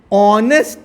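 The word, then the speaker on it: honest: एन ऑनेस्ट, एन लिखेंगे, क्यों, क्योंकि क्या है, ऑनेस्ट है, ऑनेस्ट।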